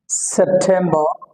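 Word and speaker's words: September: August August August August সেপ্টেম্বর এখানে শেষের যে র উচ্চারণ হবে নাটা উচ্চারণ হবে সেপ্টেম্বর রটা ব্রাকেটে দিয়েছি এটা উচ্চারণ হবে না সেপ্টেম্বর সেপ্টেম্বর সেপ্টেম্বর একইভাবে ও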